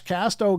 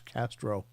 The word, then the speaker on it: Casto: in and uh Josh Casto came in do you see that I pronounce it right now Josh just for for the record everybody calls him Josh Castro and uh I was